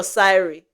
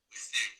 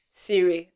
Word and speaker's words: Siri: Instead of using his TV, you just talk to the you know, is it Siri or Syri? Siri. Siri.